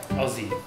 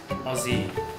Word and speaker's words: Aussie: Aussie. Would you mind to repeat it? Aussie.